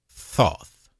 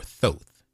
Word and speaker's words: Thoth: djibouti became known by the Greeks as Egypt's Thoth or Thoth th o th that's where we get the